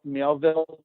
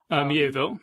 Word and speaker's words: Miéville: There are writers like China Miéville, that's how you pronounce it? Miéville, yeah.